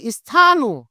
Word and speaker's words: স্থানু: তাহলে আমরা আমরা যখন বলছি স্থানু, স্থানু এটাকে এই যে দন্ত স আর এখানে কি আছে? থ আছে। তার মানে কি হবে? এটাকে কিন্তু আমাকে স্থানুই উচ্চারণ করতে হবে।